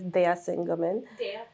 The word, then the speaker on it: Daya Singh Ghuman: Well, the pronunciation is Daya Singh Ghuman.